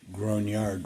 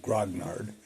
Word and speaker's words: grognard: to Chris Gman for pronouncing grard right instead of saying grognard he has a French friend I guess who told him how to pronounce it properly anyway um it's kind